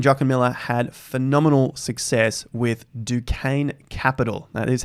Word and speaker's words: Duquesne: about Bitcoins Stanley jokermiller had phenomenal success with Duquesne Capital that is how you say it I